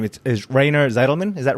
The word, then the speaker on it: Rainer Zitelmann: and please help with you with your name it is rayner's Edelman is that right yes the pronunciation in the United States it's this way Rana Seidelman it's different but Ryan aside man it's okay you're very forgiving thank